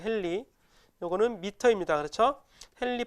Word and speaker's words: 헨리: 이 H는 헨리라고 읽어요. 헨리.